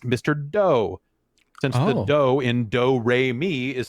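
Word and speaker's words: Mr. Do!: one of them is mr do and he in in japanese pronounces it do and doesn't say do okay um so i'm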